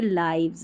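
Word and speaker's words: lives: ओ यू आर आवर एल आई वी ई एस को लिव्स नहीं पढ़ना है लिव्स नहीं ये लाइव्स है क्या है लाइव्स आर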